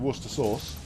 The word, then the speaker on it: Worcestershire sauce: who kind of who who have trouble pronouncing Worcester sauce we don't call it Worcestershire sauce we should but we're done nobody in the UK calls it Worcestershire sauce unless they don't know what they're doing we call it Worcester sauce